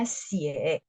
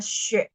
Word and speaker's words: 血: Jadi darah yang kelihatan langsung itu namanya bacanya xie. Tapi kalau darah yang tidak kelihatan, kayak gula darah itu nggak kelihatan kan teman-teman, mesti lewat dicek dan kita juga nggak lihat merah-merahnya. Itu kita bacanya xue, ya, xue tang.